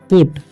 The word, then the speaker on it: put: ठीक है, तो पी से क्या होता है प, यू का उच्चारण यहाँ पर ऊ हो रहा है। ठीक है, टी से ट, तो इसे पढ़ते हैं हम पुट।